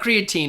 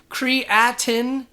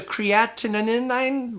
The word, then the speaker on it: creatinine: hard time pronouncing this I want to say creatine it's not creatine it's creatinine creatinin something like that I don't know and